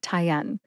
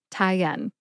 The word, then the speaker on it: Tyenne: tyen has two syllables Tai like a neck tie and N like the letter N put both syllables together and you get tyen emphasize n see if